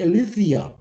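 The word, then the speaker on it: ἀλήθεια: hingeschrieben, und das ist Aletheia und Deus. Wieso habe ich das so eingebaut? Übrigens, im Neugriechischen spricht man das Tet, die 9, mit einem TH aus. TH. Das spricht sich Aletheia.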